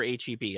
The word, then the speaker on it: H-E-B: best like is it is it pronounced hab or heb i don't know what you guys call it h-e-b i call it h-e-b